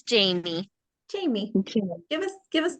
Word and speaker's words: Jamii: then um how do you say your name jammie or Jamie it's Jamie Jamie give us give us a little bit